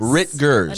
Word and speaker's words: Rittgers: I am here with Miss Hunter Rittgers. Did I say that right? Rittgers. Rittgers. Enunciate the T's.